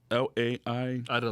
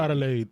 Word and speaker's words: Adelaide: It's Adelai. Adelaide.